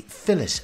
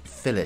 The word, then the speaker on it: fillet: This can also be called a fillet knife. I'm using the British pronunciation of fillet here.